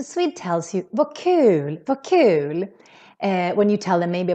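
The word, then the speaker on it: kul: u is the word cool cool here the u is real long because we're just one consonant coming after cool is how we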